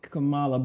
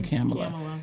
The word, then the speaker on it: Kamala: it Cala or came I heard her correct someone and say it rhymes with Pamela so we all say Camala but it's really camela yeah camela it doesn't